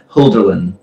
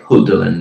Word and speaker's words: Hölderlin: And in The Question Concerning Technology, he quotes the Middle High German poet Hölderlin. I'm pronouncing that wrong. It's like Hölderlin. It's the umlaut O.